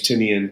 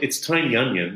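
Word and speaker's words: Tynion: like you know James tinian coming back uh tinan sorry I should use the correct pronunciation I think it is Tiny I I always say James or tinan actually James tin tiny onion the company so maybe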